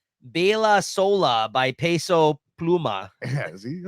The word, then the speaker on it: Baila Sola: Baila Sola by Peso Pluma.